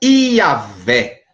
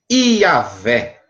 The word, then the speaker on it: Iavé: Então fica Iavé, certo? Iavé, o W tem som de V. Iavé, passando para o português, que vem do latim, fica Javé.